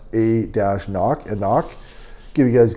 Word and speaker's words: anCnoc: i'm saying that right they say it's they say pronounce a dash knock and knock give you